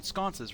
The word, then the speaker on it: sconce: looking at each other like scon is that were we saying it wrong all this time but we know don't actually say it aloud and then like games down the line we're like dude do you mean you mean sconces right?